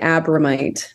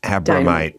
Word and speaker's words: Abromeit: It rhymes with dynamite, Abromeit. Abromeit, Abromeit, Abromeit.